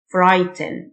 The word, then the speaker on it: frighten: يخيف frighten. الgh silent. frighten.